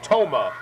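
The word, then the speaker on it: Thoma: 510 and 147 pounds the girl's name t-h-o-m-a pronounces it tomah and will be one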